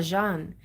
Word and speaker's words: Jean: is French as well Jean so I get the the J J sound the French J okay which is not